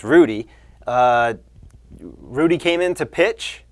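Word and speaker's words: Ruddy: Julio Lugo 's brother I believe it's pronounced Rudy Rudy came in to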